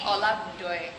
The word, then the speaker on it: Olagundoye: She is Let's get her to pronounce it. how do you say your last name? Olagundoye.